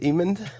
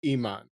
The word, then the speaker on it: Emond: How I phonetically remembered is it's kind of like almond, but Emond.